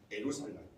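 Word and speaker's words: ירושלים: 이 두 단어가 합해져서 만들어진 말이고, 정확하게 히브리어로는 에루샬라임입니다. 에루샬라임. 그럼 오늘 우리가 좀 발음하기 좋고 또 그렇게 번역하는 길을 예루살렘이라고 그렇게 하고 있지만, 원래 이름은 에루샬라임.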